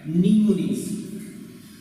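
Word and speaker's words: mnemonics: Instructions निमोनिक्स, spelling है MENEMONICS, एम आगे silent है, तो इसको पढ़ा जाता है निमोनिक्स।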